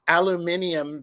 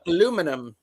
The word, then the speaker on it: aluminium: I would say, actually, I would probably say aluminium because we need some basil and some herbs. But aluminum, Aluminum.